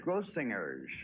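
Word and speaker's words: Grossinger's: the only one out of the four who pronounced the gross singers yeah isn't this it's gross singers do I know for the hard G gross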